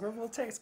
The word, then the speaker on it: agrivoltaics: Did I pronounce it right? That is correct. Agrivoltaics. Agrivoltaics, good job.